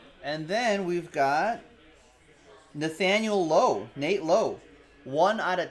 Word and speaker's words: Lowe: his teammate brandon lau nate says low that's how he pronounces his last name that's from nt baseball